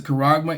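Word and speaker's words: χάραγμα: and bond, to receive a kuragma." All right, that's how it's said in the Greek. That's the word that's actually there. You know in English is another word but it says a kuragma in their right hand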